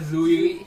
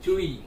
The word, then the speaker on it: Tzuyu: And guys, I wanted to say something, many of them commented in many videos, like, it's not pronounced as Zuyu, Chewy, yeah.